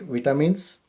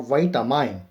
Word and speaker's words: vitamin: Actually, the term vitamin, so it is pronounced as a vitamin or vitamine.